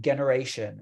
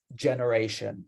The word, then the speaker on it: generation: I heard a few people say generation. Maybe this is confusing because in Indonesian, we say generasi, right? But when it comes to English, the G is pronounced like a J. So generation, not generation.